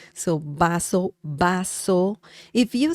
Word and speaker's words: vaso: Bas remember the V sound in Spanish is similar to the English sound b as in b so baso baso if you say Vaso I mean they they